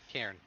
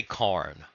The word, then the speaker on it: Cairn: No, you're saying it right. Cairn. That sounds weird to me for some reason. I don't know. I want to say Karn.